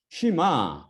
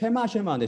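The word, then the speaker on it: שמע: 쉬마, 들으라라는 명령이에요. 어떤 사람은 쉐마인데 쉐마 잘못된 발음인데 이거는 쉬마, 이스라엘, 들으라 이스라엘아, 야베, 아니면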